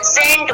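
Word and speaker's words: scent: क्या है सी है जब आपका एस पहले आया है और सी बाद में है तो अब इसी को क्या करते हैं साइलेंट कर दें और इसे नहीं करते तो हम क्या पढ़ेंगे इसके अंदर विज्ञान यहां पर देखिए आपको पता है परफ्यूम होता है यहां पे साइलेंट है ठीक है जिसको हिंदी बोलते हैं और इसको हम प्रनंसीएशन नहीं करते हैं तो ये हम क्या इसे रीड करेंगे इसको सेंट बोलेंगे ठीक है घर में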